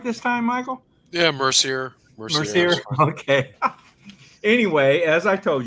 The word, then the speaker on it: Mercier: Did I pronounce it right this time, Michael? Yeah, Mercier.